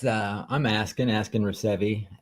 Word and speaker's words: Reeseve: uh I'm asking asking revi a lot of people uh think that it's pronounced receive but that's my actual name so oh my gosh